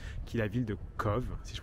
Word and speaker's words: Cobh: est la ville de CVE si je prononce bien même si ça s'écrit avec un B ça se prononce avec un V mais voilà aujourd'hui donc